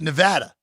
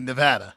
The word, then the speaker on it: Nevada: like sometimes you're ignorant on how things are pronounced. He was the first person, Professor Robert Smale, who was like, "Oh, it's Nevada."